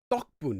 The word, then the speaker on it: 덕분: Angel Harmony is asking, can you pronounce this as 덕분? No. 덕 would sound like the rice cake. 덕, like basically like mochi. It's not 덕분, it's 덕분.